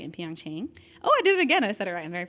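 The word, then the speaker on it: PyeongChang: athletes at the 2018 Winter Olympics right in Pang Chang oh I did it again I said it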